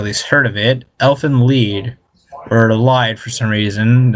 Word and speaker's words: Lied: it or at least heard of it elephant lead or lied for some reason it's spelled but pronounced lead I don't know I found this show to